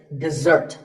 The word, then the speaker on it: dessert: This is dessert. Notice that the first syllable is de and the second starts with a z sound. We stress the second syllable, dessert. This word refers to something